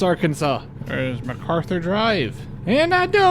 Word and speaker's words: Arkansas: Is that how you pronounce it? Natchitoches? It's Arkansas all over again. It's not Arkansas, it's Arkansas.